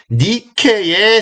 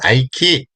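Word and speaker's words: Nike: 한쪽 날개가 이제 주로 있는데, 요 니케를 영어식 발음으로 하면 뭘까요? 요게 승리의 그리스 여신이거든요? 승리의 여신. 자, 요게 이제 뭘까요? 바로 뭘까요? 나이키입니다. 나이키.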